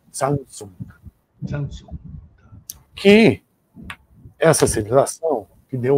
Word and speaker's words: Zhang Zhung: Aqui é a civilização Shangchun, ou uma pronúncia mais original do arcaico chinês, Zhangzong.